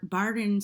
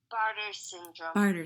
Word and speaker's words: Bartter: suffered from gastroparesis and barton syndrome how do you say it hon barter syndrome um since then she's